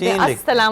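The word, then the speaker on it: السلام: सलाम वालेकुम कहना चाहिए अस्सलाम वालेकुम जी तरह साइलेंट ल है अस्सलाम है अस्सलाम बोला अस्सलाम जाएगा ल साइलेंट है लेकिन लिखा जाएगा अस्सलाम मलिक अस्सलाम आपका सलाम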